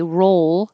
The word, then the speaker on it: roll: roll and row so when you say roll you have to hold the tongue in the L position for a longer ation so it can be heard if you put it